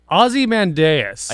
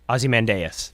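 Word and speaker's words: Ozymandias: tell me what I'm what it actually is Azie mandas yep that you actually pronounced it right I did it aie mandas from the Watchman some people would argue azy mandas but you're you are correct azy mandas from from the Watchman film yes from the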